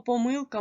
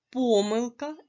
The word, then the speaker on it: помилка: наголос у цих словах слово помилка можна наголошувати так помилка і помилка а слово помилки має